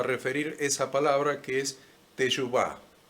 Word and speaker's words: teshuvá: esa palabra que es teshuvá. Teshuvá se escribe con T de teshuvá, E de Eyuvá, S, H, U, B corta, A. T, E, S, H, U, B corta, A, con acento en la A, y cuando se traduce